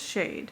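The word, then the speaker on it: Chade: I think it's Shade. It's spelled C-H-A-D-E.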